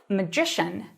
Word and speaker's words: magician: 근데 마술사는 강세가 이음절로도 바뀌어서 magician.